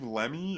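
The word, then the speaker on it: Lemme: it but like is this guy's name Steve lemy is that how you pronounce that yeah he we we talked about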